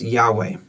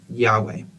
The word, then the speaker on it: Yahweh: do that in a second but uh it's pronounced Yahweh that is how you say God's name Yahweh now that means I am who I am